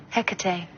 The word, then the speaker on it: Hecate: This little guy on top, how do you pronounce it? Hecate, demon of the night.